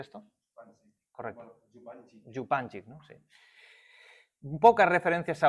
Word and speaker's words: Župančič: Evidentemente el marxismo, la escuela eslovena, no sé si lo conocéis, a Zizek y Župančič, ¿cómo se pronuncia esto? Correcto. Župančič, ¿no?